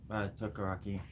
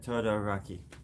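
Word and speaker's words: Todoroki: Not you, Tokaraki. I already said it wrong. Takaya Todoraki.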